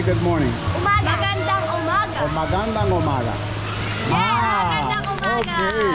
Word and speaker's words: Magandang umaga: Magandang umaga.